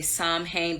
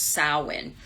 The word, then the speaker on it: Samhain: Some people say Samhain, but it's pronounced Samhain.